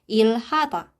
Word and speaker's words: 일하다: Bacim real ketemu dengan huruf konsonan hit. Jadinya kita bacanya itu ditekan. Si L-nya itu ditekan. Si realnya ini ditekan. Jadinya ilhata.